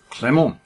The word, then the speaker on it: Clément: Right, Clément. I'm going to pronounce it that way, because it's got a cute accent. I put that acute accent in it, because he has a French name, and I don't know